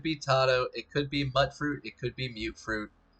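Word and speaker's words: Mutfruit: see really quick uh mud fruit is a small purple fruit that grows on small butt fruit trees that bear yellow leaves the first syllable is pronounced as mute as in mutated fruit and that comes from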